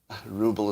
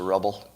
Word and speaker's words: ruble: russian products with and ruble is mispronounced it's a rubble yeah what are the